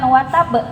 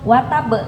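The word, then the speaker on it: وَتَبّ: Nah, karena kita berhenti jadi bacanya dimatikan huruf terakhirnya watab. Kenapa bacanya bukan watab? Ada yang tahu? Qqala. Betul. E banyak qalqalah. Kenapa enggak langsung watabe? Kenapa harus watab? Ditunggu dulu. Iya, betul sekali. Karena ada tasdid.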